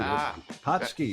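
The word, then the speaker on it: pączki: tom and david happy patsky how do you say that david hotsky it's it's the day you eat fat food hot ski it's polish it's polish indeed it's big in detroit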